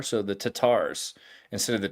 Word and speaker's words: Tatars: Tatars instead of the Tartars, right? So the Tatar means that they're using the more Persian. The Persians don't pronounce the R; they use an apostrophe kind of sound like that.